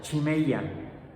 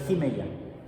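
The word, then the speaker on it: χημεία: Y viene como se pronuncia, chimeia. Lo que pasa es que la ji se puede pronunciar como ji y como chi o ji. Por eso aquí está como chimeia, pero podría ser jimeia.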